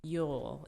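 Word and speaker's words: Uhl: Darren Yule. It's spelled U-H-L.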